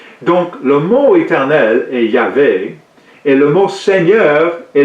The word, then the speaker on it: Yahvé: Certains prétendent qu'il n'y a pas de son pour la lettre G, comme Jéhovah, ou W, comme Yahweh en hébreu, de sorte que Jéhovah ou Yahweh ne peuvent être des prononciations correctes.